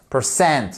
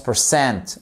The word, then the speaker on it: percent: qui nous indique que la seconde syllabe est porteuse de ce fameux accent tonique appelé en anglais stress alors vous me permettrez